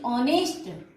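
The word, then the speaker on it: honest: करते हैं, जैसे कि ऑनेस्ट. सो ऑनेस्ट में एच से ये शुरू हुआ है, लेकिन एच इज साइलेंट हियर.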